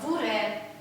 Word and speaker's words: вуре: Нет, вот пишется «е», но «р» она всегда твердо произносится. Вуре. Вуре нету такого. Вуре. То есть, хотя пишется «е», но произносится твердо.